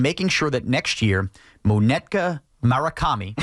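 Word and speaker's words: Munetaka Murakami: Brian Cashman needs to be in Japan and making sure that next year, Monetka Murakami, that's how you say his name, this slugger from Japan gets here.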